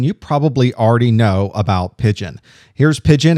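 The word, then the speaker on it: Pidgin: If you're a fan of consolidated instant messaging clients, then you probably already know about Pigeon. Here's Pigeon. It's purple and it's a pigeon except it's spelled pi d i n.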